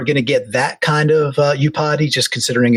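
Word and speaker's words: Iupati: name correct is the you don't pronounce the I you you potty you potty by thank thank you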